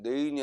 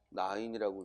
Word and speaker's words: 나인: 그런데 여기 이렇게 사람 인자가 오면 내인이 아니라 뭐라고 읽어? 나인이라고 읽게 돼.